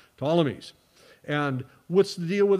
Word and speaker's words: Ptolemies: the name of the ptolemies spelled with a p p t o l e m y ptolemies and what's the deal